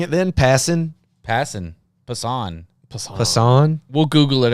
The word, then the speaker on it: Passan: And until Zach Lesnar, he put the pronunciation of Passan in the comments as pass-an.